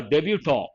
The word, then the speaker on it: debutant: we say top-notch player our debutant here t is silent team debutant means what